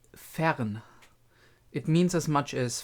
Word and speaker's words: Fern: actual Mage Apprentice fan fan just to to pronounce it again it's Fern it means as much as far away or